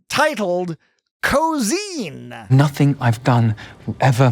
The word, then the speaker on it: Ko'Zeine: Titled Cozine. Nothing I've done will ever matter as much as this. Cozine sounds very closely similar to cosine. Yeah. Because they say cosine, actually. I think it's cosine.